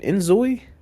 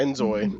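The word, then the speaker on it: inZOI: Enzoi? Yeah, Enzoi. That's how you Enzoi?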